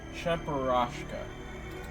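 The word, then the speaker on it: Cheburashka: I have to always figure out pronunciations and there's a whole pronunciation on Charashka. Charasha. Charasha. Charashka. Charashka. Okay, that's how you pronounce him.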